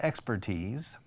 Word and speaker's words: expertise: say the person has expertise in repairing microphones. The person's an expert. La habilidad de un experto es expertise. Se escribe expert, I-S-E, I-S-E, y se dice expertise, all right?